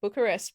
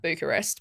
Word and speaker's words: Bucharest: I think it's pronounced Bucharest, but I used to pronounce it like Bucharest, but that was wrong.